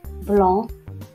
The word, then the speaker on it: blanc: Vous avez le début, après, blanc, un camp, froid. Voici la correction. Donc le début, la lettre muette, c'est la lettre T. Après, c'est la lettre S. Blanc, c'est la lettre C.